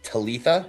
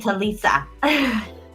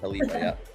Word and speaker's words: Talitha: This is Talitha. She came from out of state as well. Oh, you said it right. Look at Yeah, you. I finally got it. Yeah. I was saying Talisa. Talitha, yeah.